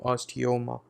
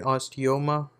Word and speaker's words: osteoma: we are on to osteoma okay uh this is uh you pronounce it like imagine a person who's into yoga right and they say oh like that and when they're doing